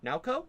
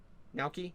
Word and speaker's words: Naoki: Oh yeah, and Naoko, Saki's brother. Naoki? Naoki, thank you. I can't pronounce these.